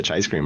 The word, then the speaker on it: Chaicecream: The CHAICECREAM, bro. How do you properly pronounce it? I say CHAICECREAM.